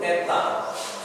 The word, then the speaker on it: eta: huruf yang ketujuh yaitu eta di halangan ke-15 Eta nah huruf besarnya sama seperti Huruf H jadi ini H bagi kita H tapi bagi orang Yunani ini e ya Eta huruf kecilnya seperti